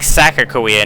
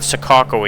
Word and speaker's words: Sakakawea: So I guess it's Lake Sakawa, not Sukako. It's Sakawa.